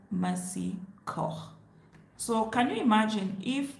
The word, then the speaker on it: Mercy Corps: So I told him in English, it's pronounced Mercy Corps. That's what Kenyan English pronounce it, Mercy Corps. But in French, which is the right pronunciation, it is Mercy Corps.